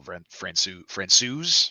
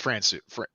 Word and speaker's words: Francouz: talked about this, and I already forgot how it's pronounced. It's Francouz. I think they said Franco or Francouz. Maybe. I'm gonna trust Pat Foley. He said Francouz, and he knows.